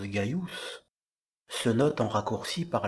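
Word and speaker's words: Gaius: et on l'a atteint le prénom qui se prononce gaillous se note en raccourci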